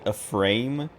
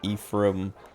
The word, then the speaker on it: Ephraim: when I was younger I always pronounced it a frame and then I saw uh I'd seen the name in other places and never heard it pronounced and then I watched the lighthouse and uh Robert patson's character his name is Ephraim ephra Winslow or something